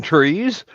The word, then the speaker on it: three: You do know I that didn't know deer grew on trees. you do know that in military phonetic speech, the number 3 is pronounced tree.